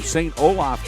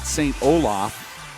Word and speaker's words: St Olaf: it looks like we've got Tissa pavlovich from St Olaf College she is in the ladies Division and